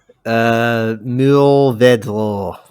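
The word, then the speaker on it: Mourvèdre: Yo, Duolingo, can you give us a pronunciation on that one? Mourvedre. Nice. Yeah, there you You go. just, I don't think I'm particularly good at the French accent, but yeah, we'll see. Mourvedre. More Verdi.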